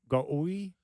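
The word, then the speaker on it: Gouy: It was G-O-U-Y. Goy. Remember that? It was a weird pronunciation. It was Goy, wasn't it? Yeah, it was Goy, but it had the U in there.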